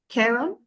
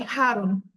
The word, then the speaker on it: Charon: match yeah wow but because in the beginning we have the C8 it could be Haron in English oh Haron okay okay